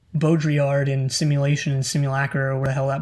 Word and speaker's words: Simulacra: simulacra and simulation yeah how do you even pronounce simulink i don't know i don't know how to pronounce it because there's no pronunciation guide in books unless you look simulacra there we go that's how you pronounce it it's a miller crap